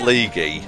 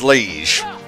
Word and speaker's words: liege: out for the record I don't think it's pronounced League I was making a joke back then League what whatever it's liege this is me trying